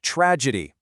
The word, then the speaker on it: tragedy: The pronunciation is tragedy. Notice that the G has a soft J sound.